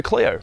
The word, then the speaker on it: Clio: delicacies the renault clio or as the french pronounce it le renault cleo but maybe you guys